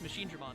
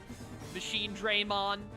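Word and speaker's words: Machinedramon: But it's like, dude, it's Machine Dramon. C-Dramon. It's not C-Draymon. It's not Machine Draymon.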